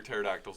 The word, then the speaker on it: pterodactyls: why can't you hear pterodactyls in the bathroom? The P is silent.